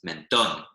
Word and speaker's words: mentón: With an accent on the O, right? Just otherwise it would be mentón, whereas it's mentón because the accent shows us the stress goes on the last syllable.